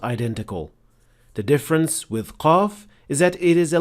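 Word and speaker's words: قاف: mistake that is usually made by beginners is producing qaf way deeper than it should be. This happens when you try to exaggerate the sound, so it becomes way heavier and more difficult to pronounce than it should. And the mistakes sound like this: qa, qa, qalu. This is also detected when you hear a hint of kha or ghain along with the sound of qaf.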